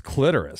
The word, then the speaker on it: clitoris: that again Miriam Webster has they have both pronunciations as acceptable okay clitoris oh wow that say clitorus clitorus right but it's clitoris clitoris my whole life I've been are you